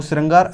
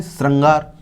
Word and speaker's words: श्रृंगार: वह लिखते हैं वह श्रंगार ऐसे लिखा जाता है यह रिहिस रंग अलार्म हम क्या करते हैं श्रंगार श्रंगार यह होता है श्रृंगार तो यह जो हमारे